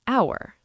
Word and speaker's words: hour: Yes, but the H is silent. It sounds like hour.